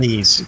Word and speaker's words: Ys: I always called it Ease. Is that how you say it? The action RPG. Wise? Yeah, Ease. Yeah. It's called Ease, but yes, it's spelled.